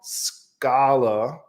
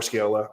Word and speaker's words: Scala: in either Java or let me say it right because I always say it wrong Scala not Scala Scala um which is